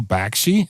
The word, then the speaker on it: Bakshi: Like, it's so distinctly Bakshi.